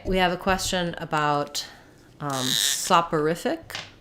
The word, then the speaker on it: soporific: saporific and exonerated um so soft horrific um saw so this or is more of an ER sound sopper I'm mixing up my IPA and my spelling software sopper I'll sync we'll write it like this instead of writing it with per we'll do periph SAP uh riff thick and then for exonerated